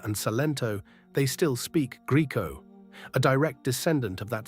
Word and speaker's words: Greco: Americans say Greco with a soft E, Italians say Greco, hard.